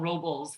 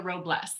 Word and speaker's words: Robles: my name right so i've been called robles many many times which is fine all right but it's robles you know and it